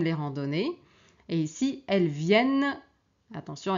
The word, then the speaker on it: viennent: Et ici elles viennent attention ici on a double n on prononce le n mais on prononce pas les n elles viennent après le travail.